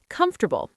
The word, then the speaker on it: comfortable: three soft th comfortable three syllables receipt silent p vegetable